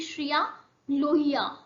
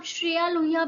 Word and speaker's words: श्रिया लोहिया: तो जो karting racer का चयन हुआ है हिमाचल प्रदेश से वो है आपकी श्रिया लोहिया। समटाइम इनका नाम श्रेया लोहिया भी है, लेकिन श्रिया लोहिया आपने याद रखना, सेम प्रोनाउंसिएशन।